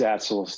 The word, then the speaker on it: Atsalis: Counselor Atsalis, forgive me if I'm pronouncing your name incorrectly. Yes, you did. It's Atsalis. Thank you. Atsalis.